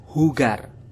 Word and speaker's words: jugar: penyanyi Mike Jagger jadi kata hugar yang tulisannya adalah jugar kita samakan dengan Mike Jagger untuk pengucapannya ingat sahabat poliglot bahwasanya J itu dalam bahasa Spanyol akan dibaca H jadi untuk pengucapannya hugar